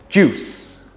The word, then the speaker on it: juice: like sugar is sweet juice juice juice orange juice apple juice grape juice it's not juice it's a one syllable word juice this next word